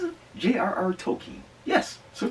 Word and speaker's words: Tolkien: Is that how you pronounce it? J.R.R. Tolkien. Yes. So Tolkien.